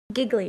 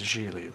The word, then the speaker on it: Gigli: Giggly. Jiggly. It's Gigli, like, rhymes with really.